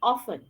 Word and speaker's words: often: word as often right so the exact pronunciation of this word is often a word like orphaning for example is frequently pronounced with a t because of the influence from the written medium here in pakistan what we are doing we make the t silent and pronounce it as often okay so the main difference